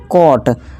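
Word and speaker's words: caught: तो बस, और ये GH को साइलेंट रखना और टा, और ये हो गया कॉट, कॉट।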